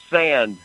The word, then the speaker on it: Sand: Oh, my name is Sand, S-A-N-D, like on the beach.